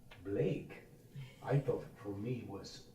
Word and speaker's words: Blake: Like, my first semester, I didn't know how to pronounce the name Blake. I thought for me was Blackie was the proper way.